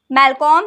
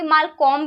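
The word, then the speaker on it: Malcolm: तो अगर प्रोनाउंसिएशन में कुछ भी मिस्टेक एरर आपको लग रहा है तो मैं आपको बता दूं, ये जो मैलकॉम है ना, इसको कोई कोई मालकॉम भी पढ़ते हैं, कोई कोई मैलकॉम भी पढ़ते हैं।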